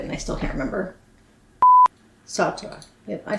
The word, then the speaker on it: Sartre: Sartre. Yep, I said it right. Sartre.